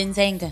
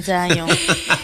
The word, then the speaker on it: Nzangayon: Elle est de Nzenga. C'est faux, dis bien. Elle est de Nzangayon.